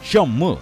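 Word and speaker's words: 선물: fue invirtiendo en futuros en coreano futuros se dice Shan mo que se pronuncia igual que regalo por eso gihun se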